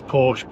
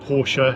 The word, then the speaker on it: Porsche: I'll say it properly. Porsche Porsche. It's Porsche. Porsche if you want to be, you know, posh.